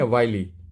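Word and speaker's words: wily: देखो ये विली नहीं है, वाइली। प्रोनाउंसिएशन देखिए इसका, वाइली।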